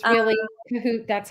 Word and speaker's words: Kohut: Yes, you know, when people ask me how to pronounce it, I say it's like you're in cahoots with someone, Yes, but Kahoot. drop the S, so cahoot. But some Kahoot. people say Kohut, which is fine too.